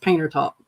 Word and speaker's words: Panther Top: a community called um it's spelled out Panther top but everybody calls it painter top so yeah it's just